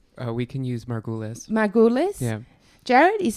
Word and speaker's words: Margulies: you please correct me or give us the pronunciation we can use Margules my goal is jared is a postdoctoral research